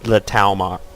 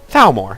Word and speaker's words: Thalmor: And Ulfric got his end of the bargain until the Talmar. You know, it's going to annoy me because I'm getting the name wrong, and I shouldn't be getting the name wrong. Thalmor, thank you.